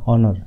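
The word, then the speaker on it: honor: তো এইভাবে এন এন অনর, অনর বলি আমরা, ও দিয়ে অনর ঠিক আছে, হনর বলি না, তো এন অনর।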